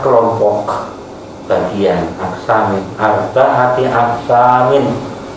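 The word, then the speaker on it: أربعة أقسام: Aksamin, arba'ati aksamin. Anda membacanya gitu ya, nggak boleh dibaca ala arba'atin aksamin ya. Tapi diwasalkan, untuk ilahkan ala arba'ati aksamin gitu.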